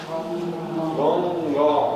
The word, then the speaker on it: Ганга: Ну, самый простой пример – это название реки Ганга. Ганга. Она правильно должна произноситься именно так.